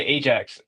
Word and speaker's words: Ajax: big games as well Ajax locks to Frankfurt four to one in a six-2 aggregate what was that that's what I said is silent no you say Ajax the J is silent I said bro I